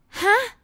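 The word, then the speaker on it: ห๊ะ: are surprised in thai we we say huh with high tone okay huh short sound but high tone like like what like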